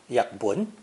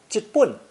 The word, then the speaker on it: 日本: The pronunciation Japan was likely brought to the West by Dutch traders from a southern Chinese dialect, because 日本 is pronounced yakbun in Cantonese, and jitbun in the Minnanese dialect of Fujian and Taiwan, where the Dutch had built a fort.